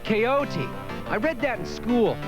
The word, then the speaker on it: Quixote: good book Jake called on quick sorry that's pronounced coyote I read that in